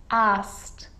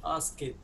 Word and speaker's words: asked: Asked. مش ask it.